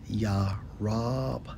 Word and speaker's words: Jeroboam: Jeroboam in the Hebrew, Strong's H3379, pronounced as Yarab-imah, right?